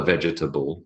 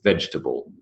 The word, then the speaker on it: vegetable: basket he would say he would say vegetable but it is not a vegetable it's vegetable vegetables three syllables now the next word